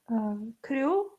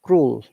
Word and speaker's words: cruel: Crew, Uh, maybe. you're nearly there. Okay, it is cruel. Crew, Cruel. That should be L.